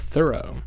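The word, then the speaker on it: Thoreau: very important movie cuz it opens Henry David thorough I learned from NPR recently that it's actually pronounced thorough ohenry David th well it's a very out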